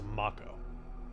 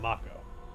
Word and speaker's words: Mako: the game the characters in the game actually pronounce it as Mako so the official pronunciation is Mako then I'm gonna go with Mako it's just